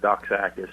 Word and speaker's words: Doxakis: people say but it's my last name is pronounced doc AIS but most people do